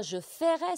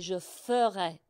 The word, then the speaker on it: ferais: Et c'est pareil, alors le verbe faire, attention, ce n'est pas je ferais, c'est je ferais. Alors pour les anglophones, c'est comme faire, ferait, d'accord?